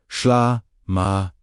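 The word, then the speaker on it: ܫܠܡܐ: This is where SHLAMA pronounced SHLAMA, wholeness, completeness.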